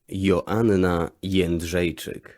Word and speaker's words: Joanna Jędrzejczyk: This is according to Google how you pronounce Joanna's last name. Joanna Jędrzejczyk.